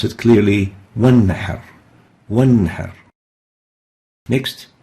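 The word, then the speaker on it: وانحر: Nun Sakinah followed by Ain with a Kasra, pronounced clearly Min Ibadihi. Next example, Wanhar. In the same word, we have a Nun Sakinah followed by a Ha with a Fatha, and we pronounce it clearly Wanhar.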